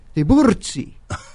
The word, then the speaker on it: Tiburzi: And we pronounce it Tiburzi, but I had a drumming instructor down in Iowa, and he told me, oh, Tiburzi, no, you should pronounce it like the Italians, Tiburzi.